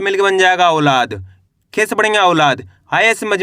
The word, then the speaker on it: औलाद: इसको अपन औ करके पढ़ेंगे। ऐ से नहीं पढ़ना। ओ? अगर आप ओ पढ़ोगे तो ओ की मात्रा का उच्चारण हो जाएगा।